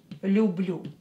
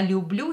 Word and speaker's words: люблю: Люблю, лю, лю. When you pronounce you, put your lips like that. Люблю, люблю, love. Я люблю тебя, I love you. Probably you know this phrase, right? Я люблю тебя, I love you.